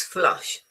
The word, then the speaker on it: flush: This is flush as in cut.